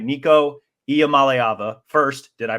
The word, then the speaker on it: Iamaleava: Nico Iamaleava. First, did I pronounce that right?